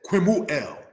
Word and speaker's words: Kemuel: Kemuel said as Quimuel, because brothers and sisters, this letter here, the kuf, makes the Q-like sound.